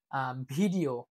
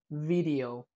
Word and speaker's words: video: I mean, most of the content creator in Bangladesh, they usually say video, but it is not video, it's video.